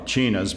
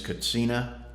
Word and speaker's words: katsina: on the pronunciation yeah the Hopi don't have a sound mm-hmm in their language their preferred pronunciation is cocina plural being cuts enum so I try to